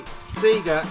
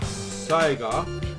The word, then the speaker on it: Sega: Sega Megadrive ultimate collection if I say Seger instead of Saiga don't kill me because that's how we pronounced it back in the day and how do I